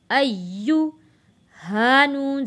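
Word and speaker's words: أيها: अय्युहन नबिय्यु, हमज़ा या ज़बर अय्या पेश यू, अय्यु। हा नून ज़बर हन, नून ज़बर न, हन्ना। अय्युहन्ना। नून के ऊपर तशदीद है, यहाँ पे हमने गुन्ना करना है।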